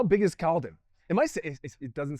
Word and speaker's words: Caledon: You grew up in Caledon, Ontario. Is that the correct pronunciation? It is very good. Caledon, Ontario.